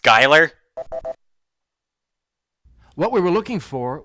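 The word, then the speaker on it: Schuyler: I think Colfax that's how you anybody that's pronounced Skylar what we were looking for was this grant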